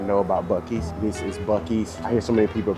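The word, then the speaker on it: Buc-ee's: This is Bies. I hear so many people pronouncing it busies or abusies.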